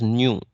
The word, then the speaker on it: nu: This is pronounced as nu.